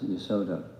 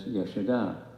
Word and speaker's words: Yashoda: That's why I try to be very careful with, like, we're used to saying Yashoda as Yasoda, but it's Yashoda because the female name has the long A at the end commonly, like Pritha or Kunti or Subhadra commonly.